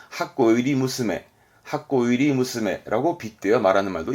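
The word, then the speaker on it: 箱入り娘: 발음은 하코 이리 무스메.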